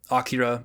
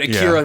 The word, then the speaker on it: Akira: whichever you prefer um the japanese pronunciation would be akira but but akira rolls off the tongue for if you're if you're speaking english um it uh i